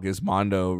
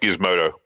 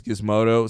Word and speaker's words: Gizmodo: Wow, Gizmondo really changed. And it's pronounced Gizmodo. Wow, yeah. Oh, it's Gizmodo.